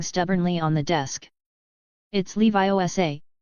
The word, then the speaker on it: Leviosa: It's<unk> Levi Sa, not Leviosar. Make the gar nice and long.